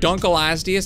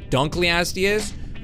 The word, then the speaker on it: Dunkleosteus: Okay, so you may have noticed I said Dunkelosteus and not Dunkleosteus. Apparently, I've been saying it wrong, guys.